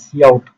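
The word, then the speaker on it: cout: तो इसके बाद क्या है, इसके बाद सी आउट है, प्रोनाउंस्ड इज सी आउट।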